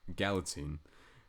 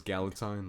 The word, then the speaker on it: Galitzine: I had to Google how to say his last name. Galitzine. Because I thought it was Galitzine, like Valentine.